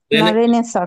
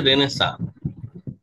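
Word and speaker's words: Renaissance: রেনেসা স্যার এটা কি রেনেসেন্স উচ্চারণ হবে রেনেসা কোন এটার উচ্চারণ হচ্ছে রেনেসা রেনেসা ফ্রেঞ্চ শব্দ এগুলোতে প্রচুর অতিরিক্ত আসলে অ্যালফাবেট থাকে উচ্চারণ রে নেসা সেটা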